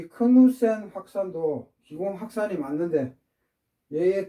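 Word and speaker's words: Knudsen: 크누센이 덴마크 분이셨던 것 같은데, 크누센. 그래서 D가 묵음입니다.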